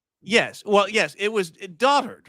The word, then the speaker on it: dotard: Dotard. That word is pronounced dotard.